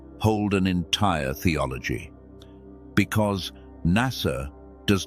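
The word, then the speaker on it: נשא: In the ancient Hebrew of the scriptures, there is a small word, three letters pronounced na sa.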